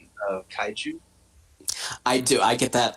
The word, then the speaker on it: kaiju: I think she's not questioning your pronunciation of Kaiju.